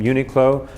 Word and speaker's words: Uniqlo: It's quite a cleverly created brand, and I believe it comes from unique, obviously, in clothing, so they came up with the name Uniqlo, 3 syllables, nice and straightforward and meaningful as well.